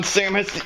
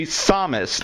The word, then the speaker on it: Samus: Listen to how they pronounce her name in the game. See, they say Samus, not Samus.